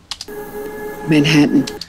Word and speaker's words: Manhattan: Manhattan. 그쵸? Manhattan, Manhattan 그러지 마시고요. 지금 맥이 발음 들어보세요.